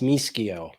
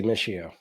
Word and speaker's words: Mischio: if you're in Italy, it's pronounced Mischio. Oh, there we go. I'm not in Yeah, Italy. I'm in Verona, Wisconsin. yeah. So Well, then your cheeseheads say Mischio.